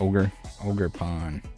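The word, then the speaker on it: Ogerpon: luki says isn't it ogre Pon are you am I pronouncing it wrong it's like ogre ogre pwn like he's an ogre oo I think that's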